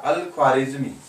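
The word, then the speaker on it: al-Khwarizmi: अल ख्वारिज़मी। अल ख्वारिज़मी, अल ख्वारिज़मी। इसको क्या बोलते बोलते बोलते कई बार होता ना, प्रोनाउंसिएशन की प्रॉब्लम होती है अंग्रेजों की।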